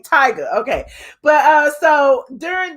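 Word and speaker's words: Tyga: it wrong so um tigger is big tigger tiger is the rapper okay tiger okay but uh so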